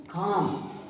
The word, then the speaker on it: calm: ये जो आपका पोर्शन है इसमें ऐसा जैसे कि अंदर एयर गई, आल आल, तो क्या हो गया, काम, BAM बाम। तो इसमें एल साइलेंट रहा, बाम, TAL के।